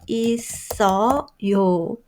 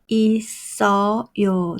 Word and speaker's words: 있어요: How do you make sound? 있어요. 있어요. The final consonant should be moved to next syllable.